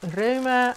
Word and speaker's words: Rauma: So I got a sweater's quantity of Rauma, or Roma as apparently people in Norway pronounce this, in one of their new fall colours.